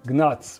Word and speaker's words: gnats: are not larvae, that they used to call gnats, because I didn't know that G is actually silent. It is written with G, but it is not pronounced.